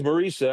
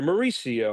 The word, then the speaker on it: Marisa: She's like, no, because my wife's name's Marisa, and everyone calls her Mauricia or Marissa. They all mispronounce her name.